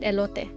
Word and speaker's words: elote: Just call it elote and people will know what you're saying. So it's pronounced elote.